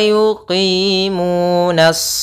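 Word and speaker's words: يُقِيمُونَ: Kemudian wa yuqimuna, pada lafal qi itu ada kasrah bertemu ya, yaitu mad tabi'i. Mu ada dhammah bertemu waw, yaitu kedua-duanya kita namakan dengan mad tabi'i.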